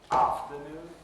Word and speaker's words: afternoon: Now, if I leave the stress on noon where it is, I'm going to have two stresses right next to each other. And English doesn't like it. And there are syllables that it can move that stress to within the word. And so what you get for the second sentence is, I invited him to afternoon tea. Afternoon, not afternoon tea, but afternoon tea.